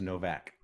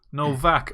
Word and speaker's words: Nowak: Nowak no it's it's it's German so it's pronounced Novak Novak excuse me and right